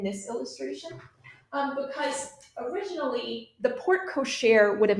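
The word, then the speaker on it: porte-cochère: And this is actually known as a portechere. It's spelled in a French way, so the pronunciation can be a little confusing. That's called a portechere.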